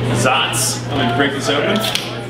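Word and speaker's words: Saaz: hop character particularly the use of saz pronounced zotz okay so actually i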